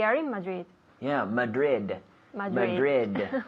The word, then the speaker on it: Madrid: Madrid yeah Madrid Madrid you know in English we have to pronounce those D's yes Madrid so we have the I have the D with my tongue touching the roof of my mouth behind my teeth Madrid Madrid again Madrid